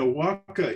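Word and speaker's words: huaca: sacred places is h-u-a-c-a is the way we spell it and a walka is it can be a natural formation it's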